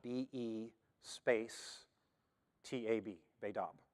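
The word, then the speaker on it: בֵּית אָב: It is spelled B-E space T-A-B, Beidab. And the T is pronounced as a D, so it's written Beidab. Now there's accents on that, but I'm not even going to try to communicate those.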